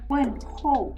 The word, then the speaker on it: 问候: You have to take note of the pinyin. This is H-O-U. 问候. This is H-A-O. 问号.